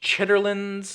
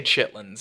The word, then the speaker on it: chitterlings: and I am well aware that it's pronounced chitterlings or chitterlings, but I'm southern. I say chitlins.